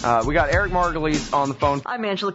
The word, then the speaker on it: Margolis: It's spelled like Margolis. I think probably sometimes I say it wrong because I'm just not thinking. It's Eric Margolis.